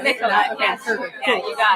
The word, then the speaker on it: Nicola: And it's Nicola. Right? Nicola, Okay, yes. perfect. Yeah, Cool. you got I it. always get nervous with pronunciation.